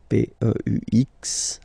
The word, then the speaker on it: peux: P-E-U-X, okay? Don't pronounce the final x.